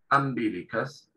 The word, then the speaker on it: umbilicus: Entonces, la pronunciación que tienen ellos para esta palabra es umbilicus, es ombligo.